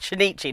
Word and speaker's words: Shinichi: It's Shinichi, not Shinji. Shinichi. Like I say, I've had to spell it phonetically because otherwise I will call him Shinji.